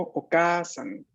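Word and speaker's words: お母さん: En este caso, hay que prestarle mucha atención a la pronunciación larga de la A, porque si la pronunciamos sin la doble vocal, o sea, si decimos okasan, significa otra cosa.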